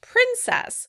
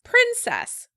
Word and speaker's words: princess: The British pronounce the word princess. Princess. I first heard this in a movie called Ever After, and I was really surprised because that's not the way I grew up hearing the word. In American English, the word would be pronounced princess. Princess. Princess. In British English, princess.